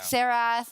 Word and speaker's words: Xerath: Oh yeah, I feel like they got some out of the way early, like Xerath, like.